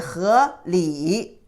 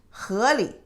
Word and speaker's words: 河里: However, if you say 河 is river, inside of the river, 河里, you don't pronounce it 河里. You pronounce it very light touch, 河里.